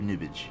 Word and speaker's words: Knibbage: Kibbage says, nice Q stream before work, and the K in my name is silent. Well, Knibbage, I will call you Nibbage from now on.